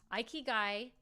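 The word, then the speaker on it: ikigai: know if you'all have ever heard of this II guy is a Japanese term that means reason for being it's spelled i k i g a i it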